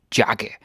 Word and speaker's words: jakke: Jakke. Jacket. This is a good chance to practice the J in Danish, eh? So you don't say jakke. No. The Danish J is pronounced like an English Y.